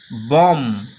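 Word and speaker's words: bomb: যেমন বি ও এমবি উচ্চারণ কিন্তু এখানে হচ্ছে বম। বির কোন উচ্চারণ হলো না।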